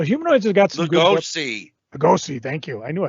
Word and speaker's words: Lugosi: Lugosi, thank you.